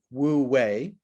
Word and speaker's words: Wu Wei: The way I know how to pronounce it is Wu Wei. It's spelled W-U, and the second word is W-E-I.